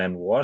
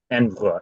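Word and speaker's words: envoyer: में हम envelope send करते थे अब हम एनवुआ सेंड करते एक जगह से दूसरी जगह शिफ्ट करते हैं देते हैं एनवुआ ये एनवलप जैसा दिखता है एनवुआ एनवुआ ठीक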